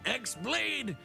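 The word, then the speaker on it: χ-blade: Yeah, he means the Xlade. It's just pronounced like keyblade even though it's just one keyblade.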